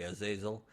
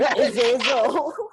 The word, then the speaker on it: Azazel: You mean Azizol became Azazel? Were you saying Azizol lah? No, Azizul lah. Azazel. Azazel. Azazel. Zul. Azazel. Yeah, it's that character Ah. from X-Men. Rhymes with Hazel.